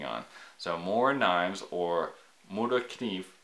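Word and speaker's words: Morakniv: so more knives or more to achieve I think is how the Swedes pronounce their their brain it's a it's a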